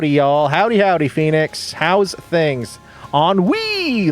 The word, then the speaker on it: ennui: Ennui, like pee.